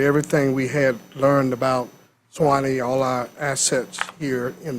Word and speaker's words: SWNE: And so when you look at the SWNE, phonetically, people read Suwannee.